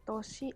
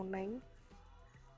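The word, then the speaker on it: 年: Ada kanji toshi atau neng. Kalau berdiri sendiri itu bacanya toshi.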